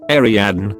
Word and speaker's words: Ariadne: name from greek mythology ariadne which is pronounced pretty much exactly the way it looks but they told her